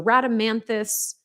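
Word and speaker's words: Rhadamanthys: on as well so radamanthus that is how you say it on my team sometimes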